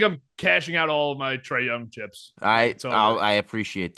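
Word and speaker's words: Trae Young: It's the man running the show and his name rhymes with Ray Tongue. Yeah, I think I'm I think I'm cashing out all my Trey Young chips.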